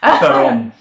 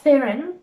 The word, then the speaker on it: Theron: Theron. But That's like the proper Afrikaans Theron. pronunciation. Theron. yeah, not Theron.